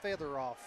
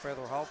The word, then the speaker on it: Featheroff: And number 4's name is pronounced Featheroff, Ronnie Paul. What have I been calling him? I don't know. They just put it on the page. Well, I think I've been calling him Featherhoff.